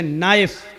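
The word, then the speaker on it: knife: में नी मानी घुटना लेकिन के लिखा होता है लेकिन बोला नहीं जाता पढ़ा नहीं जाता ऐसी अरबी जबान में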